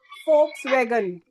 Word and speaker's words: Volkswagen: So this is a German word that is Volkswagen. They pronounce V as F.